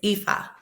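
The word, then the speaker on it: Ifá: pronounce the name of your path or your faith again for people. It is Ifa.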